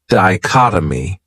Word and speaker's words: dichotomy: great noun is dichotomy this word has four syllables and the stress is on that second syllable dichotomy that third syllable has that schah that uh sound D chot oh my what it means